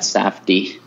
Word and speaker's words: Safdie: I've listened to people say it, so they pronounce it like that, Safdie.